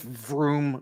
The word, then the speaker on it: Vroom: it's almost as if vroom rhymes with doom that was pretty good